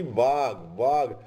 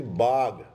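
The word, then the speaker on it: Vyagh Pajja: Path of tiger, Pali Vag. Actually, it is Bag, not Vag. It is Bag. So your Pali is mispronounced. So of tiger, they were known as Vyag Pajja.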